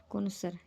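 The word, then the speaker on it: connoisseur: जिनको food, music और आर्ट के बारे में बहुत ज़्यादा पता, उनको बोला जाता है कोनोसर। कोनोसर, ये इसकी प्रोनाउंसिएशन है।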